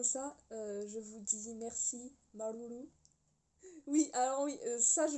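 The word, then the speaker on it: Māuruuru: Je vous dis merci, Marulu. Oui, alors oui, ça je le prononce bien maintenant, parce que j'ai eu un petit cours de tahitien improvisé.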